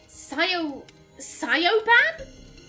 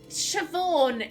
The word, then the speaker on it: Siobhan: even I know that Sayo siopan Siobhan it's pronounced chiffon what a menacing name